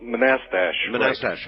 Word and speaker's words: Manassas: the stuff that's like hey wait a minute pronounce the name of your town Manchester oh oh Manassas that's right thank you uh and uh actually